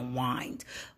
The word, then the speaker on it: wind: Instead of wind, it's now wind.